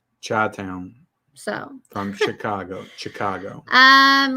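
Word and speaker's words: Chi-Town: how to pronounce it it's not shy Town though chai town so from Chicago Chicago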